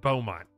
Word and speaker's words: Beaumont: It's pronounced Beaumont.